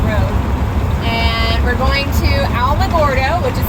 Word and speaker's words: Alamogordo: And we're going to Alamogordo, which is spelled Alamogordo, but it's pronounced Alamogordo.